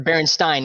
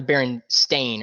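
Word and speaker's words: Berenstain: the way i'm sorry it's the berenstein not the baron stain or whatever the it is no not me i'm talking about the actual the bears it's spelled with an e not an a and if you disagree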